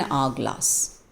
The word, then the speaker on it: hourglass: You don't say ha. If you say ha, then it would be a. But H-O-U-R is pronounced as R. Okay, R. And the sound is of A, R. So this is an hourglass.